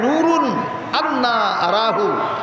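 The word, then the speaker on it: نور أنى أراه: শব্দটার উচ্চারণ 2 ভাবে হয়। একভাবে হয় নূরুন আন্না আরাহু, আর একভাবে উচ্চারণ হয় নূরানিয়্যুন আরাহু।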